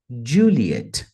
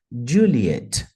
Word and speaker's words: Juliet: a pronúncia vai ser Juliet Juliet Juliet então tem uma ênfase na primeira parte da palavra Juliet e também uma ênfase na segunda parte Juliet Juliet Kilo k